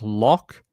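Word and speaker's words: Loch: The other one is lock like I guess like a lock in Scotland, right?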